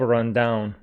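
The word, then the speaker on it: run-down: is the meaning of run down run down with stress on the second syllable uh down I mean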